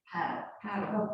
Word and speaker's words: padel: Padel, P-A-D-E-L. Paddle. Oh, I'm gonna adopt that new version. I like that. Yeah, it's actually paddle court. I think it's spelled P-A-D-L-E. This is padel.